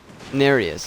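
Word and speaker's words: Nerijus: Nereus is his name. Nereus, whatever he says. Not Nergius. I always say it wrong.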